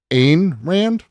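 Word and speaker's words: Ayn Rand: Einrand, which is uh if you say an Rand, you know what? That's fine. That's a phonetic thing.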